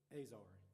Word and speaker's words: Ezer: The word help in the Bible, and this might not be pronounced right, the Hebrew word is Ezer, E-Z-E-R.